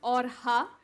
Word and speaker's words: Orxa: the co-founders of Ora energies and yes it's pronounced orha the ex is a Greek Kai and it's